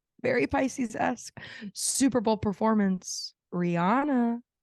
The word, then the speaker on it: Rihanna: Rihanna, which I actually found out is Rihanna. And someone like from Florida was like Rihanna, and I was like, say her name correctly. And then there's an interview of her on Ellen, and Ellen straight up is like, is it Rihanna or Rihanna? And she's like, technically it's Rihanna, but I think with